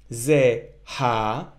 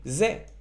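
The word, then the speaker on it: זה: hey for that purpose that's why we don't pronounce it it's not Z ha and it's not Z right this he at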